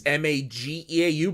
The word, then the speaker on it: Mageau: It's Mageau, but it's pronounced the G's pronounced with a J, because in French language the pronunciation of those two are flipped around.